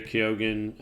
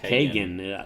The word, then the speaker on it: Keoghan: Chris Hemsworth's the star, Mark Ruffalo, Barry Keoghan. How do you say that? Like Kagan. Yeah, I don't know. I always add extra. Yeah, Kagan.